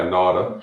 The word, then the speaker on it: Nauta: Isaac and Aly Nauta. Am I saying it right? Nauta? Yeah, Nauta.